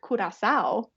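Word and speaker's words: Curaçao: That's really it's a lose-lose actually, because while we say Curacao, when you're there, it's Curacao.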